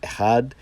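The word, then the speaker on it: אחד: And so the Hebrew is pronounced ahad, while the ge'ez is pronounced ahadu.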